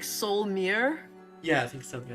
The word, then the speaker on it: Solymer: of your stream but i don't think his name is solomor there's no like a in between the l and the m like i've been pronouncing it's like soul mirror yeah i think something